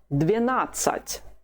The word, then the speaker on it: двенадцать: The whole of it is двенадцать. Двенадцать. The stress is on the second syllable, just the way it was with the word 11. Let's revise them both.